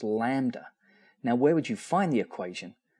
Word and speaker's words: lambda: Well, that's well that's an upside down Y which is pronounced lambda.